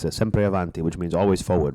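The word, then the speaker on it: sempre avanti: you there's a saying in Italian it's a simpe aanti which means always forward right never backwards always forwards what is it sepre aanti aanti s aanti a aanti there you go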